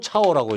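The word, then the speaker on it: 草: 중국 애들은 지금도 이걸 철은 처라고 읽고 처. 이 초는 차오라고 읽습니다. 차오. 이거 처. 중국 발음으로 읽으면 처 하든가 차오 그럽니다. 처와 차오는 같은 말입니다.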